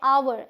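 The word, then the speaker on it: hour: minute रुकना फिर है अवर ह ओ यू आर ह साइलेंट है क्या पढ़ेंगे अवर मतलब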